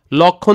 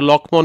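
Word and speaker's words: লক্ষ্মণ: লক্ষী যখন বলছি তখন দেখো লক্ষীয়ের নিচে একটা মফলা আছে কিন্তু উচ্চারণটা কি করতেছি না লক্ষণ যখন বলি লক্ষণ লক্ষণের নিচে একটা কি আছে ম ফলা আছে কিন্তু লক্ষমন বলি না আমরা ওকে এভাবে করে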